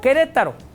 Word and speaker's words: Querétaro: Nada más que la E no suena, se escribe pero no suena, como Querétaro. Le ponemos una U, Q-U-E, Querétaro. Pero nadie suena la U, no la pronunciamos, no decimos Querétaro.